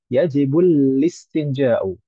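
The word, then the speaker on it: الاستنجاء: Bukan seperti itu, tapi yajibulistinjau. Mengapa? Karena hamzah di sana adalah hamzatul wasal. Hamzatul wasal itu kalau di tengah maka tidak terbaca. Bukan istinja tapi alistinja.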